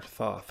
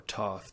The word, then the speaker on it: Thoth: also known as enlightenment both or Thoth or Toth depending on how you pronounce it in the Emerald tablets